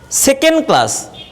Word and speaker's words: second class: So a native speaker always pronounce second class, সেকেন্ড ক্লাস না, ড যে আছে এই ডটা উচ্চারণ হয় না, ডটা বাদ দিয়ে এই ড উচ্চারণটা বাদ দিয়ে বলে সেকেন্ড ক্লাস।